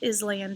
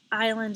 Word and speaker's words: island: word island repeat good when i was little i always said island to help me spell it island is spelled island i-s-l-a-n-d number 15 is